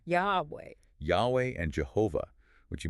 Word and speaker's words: Yahweh: But the scholarly consensus is that it was most likely pronounced Yahweh, Yahweh.